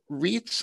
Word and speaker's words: REIT: listening here to to get it right so wreaths are a special type of company that are